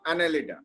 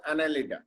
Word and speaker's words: Annelida: Phylum Annelida. Phylum Annelida. Annelida, A-double-N-E-L-I-D-A. Annelida. Phylum Annelida.